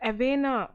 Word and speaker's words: Avena: B next question here the Avena or the vena curvature okay a silent here you can pronounce it as renal curvature is used for the